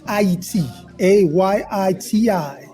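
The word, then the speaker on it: Ayiti: a Yi TI this is the correct way to say Haiti well we're getting education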